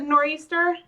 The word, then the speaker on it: nor'easter: So, you thought only Canadians pronounce it nor'easter? Nah, us New Englanders do as well. I mean, if I was going to say northeast, I would say northeast.